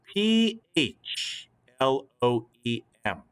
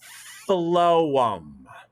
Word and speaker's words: phloem: the word p h ph l o e m that p h is pronounced like an f so look at the word and say it with me phloem phloem one more time phloem